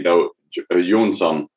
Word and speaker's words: Jonsson: And actually, I lived in Australia, Asia, and UK, and everyone pronounced Johnson differently. The most common have been to just say Johnson. Even in Sweden, we say Jonsson.